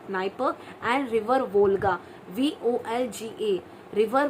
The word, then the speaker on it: Dnieper: Okay, so the famous or the largest river in the Europe is the Dnieper, Dniper, Dnieper. So D is silent, Dnieper, and river Volga, Volga.